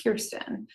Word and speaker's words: Kirstyn: friends is kristen and she wanted to name me kristen and my dad said there's enough christians in the world let's name her kirsten and on top of